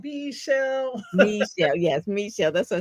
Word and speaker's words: Meshell: Meshell, is it Misha or Michelle? How do It's you pronounce? Meshell. I tell people if you sing it, you'll never get it wrong. Meshell.